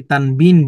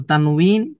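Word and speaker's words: تنوين: আমরা অনেকে এটাকে তানভন বলি। তো তানইন এটি হচ্ছে শুদ্ধ উচ্চারণ।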